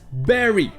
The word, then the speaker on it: bury: et oui en effet ça se prononce berry avec le son est